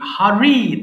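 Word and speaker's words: hurry: সবাই বলো দেখি, হারি, তাড়াহুড়া করা। সবাই বলো হারি। দেখেছো, আমি কিন্তু হারি বলছি না, বলছি কি হারি। অর্থাৎ আর এর উচ্চারণটাকে আরেকটু সুন্দর করে বলতে হবে রি।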